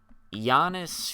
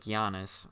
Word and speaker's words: Giannis: the title right, because it looks like you would pronounce it Giannis, but in the song, Freddie Gibbs goes, "Real G's moving sounds like Giannis," and I'm pretty sure.